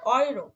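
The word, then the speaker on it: Euro: সুয়েলার এ এ তারপরে ও পাশাপাশি থাকলে উচ্চারণ হবে ওয়ে ওকে। ওয়ে ইউএ উম অয়ে, উয়ে উয়ে অয়ে, অয়রো।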